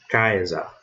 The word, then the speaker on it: Caesar: Então, nesse exemplo aqui, eu vou ler Caesar. Caesar. Ok? O C tem som de quê? Nesse mesmo exemplo, eu leio Caesar.